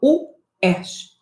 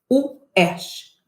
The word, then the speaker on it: UERJ: Eu falo UERJ. UERJ. Eu dou 2 paradas. Eu crio 2 sílabas.